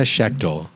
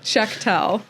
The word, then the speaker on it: Shechtel: And we're joined by Joanna Shechtel. Did I pronounce that right?